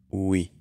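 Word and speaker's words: we: qué significa nosotros y se pronuncia Uy al inicio Uy en inglés la mayoría de las veces la W suena como una u larga no como una G Uy en el quinto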